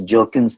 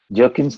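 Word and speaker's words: Bjerknes: earlier also it is the b is silent here it is jerkin's theory jerkin's theory he speaks about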